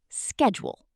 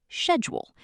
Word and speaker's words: schedule: Take the word schedule. American pronunciation is schedule. British pronunciation is schedule.